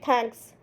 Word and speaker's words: thanks: It is not T. It is a mixture of T or TH. Thanks. Okay, thanks. If you pronounce thanks, your tongue will be out of your upper teeth.